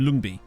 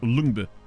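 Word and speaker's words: Lyngby: I always get confused especially with Danish wise like in lumbi or uh or Lumber you know it's it's really weird to me that the the Y being pronounced like a u I've watched enough Morgan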